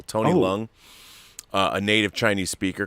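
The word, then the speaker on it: Leung: kunlun and and having tony lung the the i used to say liang i was corrected it's one syllable tony lung uh a native chinese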